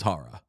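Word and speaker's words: Chára: Like if we want to be real, Charara's last name is Hara.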